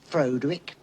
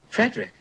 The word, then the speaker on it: Frederick: Do you also say Froderick? No, Frederick. Well, why isn't it Froderick Frankenstein? It isn't. It's Frederick Frankenstein.